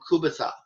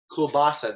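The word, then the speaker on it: kielbasa: and polish population so kubata kulbasa there we go part of my pronunciation very very popular um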